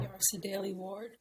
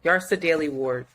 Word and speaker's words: Yrsa Daley-Ward: Yarsa Daly Ward. Yeah, Yarsa. It's the first name. Yarsa Daly Ward.